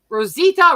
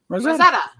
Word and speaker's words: Rosetta: Rosalita. What the fuck? It's not a hard name. And how do you pronounce it? Rosetta. Rosetta. Just Rosetta. Straight. Rosetta, like the Rosetta Stone.